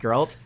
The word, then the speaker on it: Geralt: And all of those cutscenes are Geralt, is how you Yeah. pronounce it? Sure. Geralt interacting with people, talking with people, or having events happen usually to him specifically.